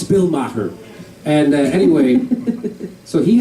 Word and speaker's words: Maher: but I just did the Jade Mahler podcast is that how you say it my heart Jay Moore that's it and uh it's Bill Maher and uh anyway so